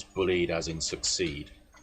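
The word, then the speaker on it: Bulleid: cancel and you pronounce bullied as in succeed right. Um so you don't the i is silent it's bullied.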